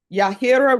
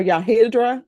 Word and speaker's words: Yahira: Yahira. Yahira or Yahidra. You hit it, you said it right the first time.